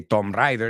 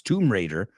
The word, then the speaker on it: Tomb Raider: Raider you know to you say tomb Rider it's not it's Tomb Raider or Raiders of the